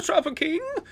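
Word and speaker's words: Troupple King: never heard of the Tropa King half trout and half Apple pronounced like mouthful he's one of the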